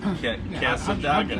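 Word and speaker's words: Cassadaga: Casadaga. How did I not get that? Casadaga. Sounds just like it's spelled.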